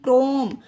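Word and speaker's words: chrome: example है सी एच आर ओ एम ई क्रोम इसे पढ़ते हैं क्रोम इसमें भी एच प्रोनाउंस नहीं किया गया फ्रेंड्स अब देखिए ये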